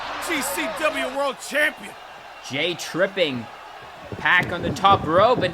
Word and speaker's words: Pac: He mispronounced his name. Sorry nerds. It's pack.